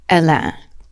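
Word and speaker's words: Hélène: falls in love with a woman named elen the French pronunciation of Helen mhm then one day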